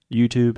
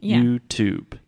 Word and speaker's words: YouTube: pronouncing the T Here YouTube is a traditional true T YouTube YouTube yes yeah here